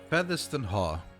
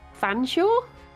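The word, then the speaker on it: Featherstonehaugh: Oh, apparently it's pronounced Fanshawe? Fanshawe. Okay. What? That's not even. You're just skipping all of the letters.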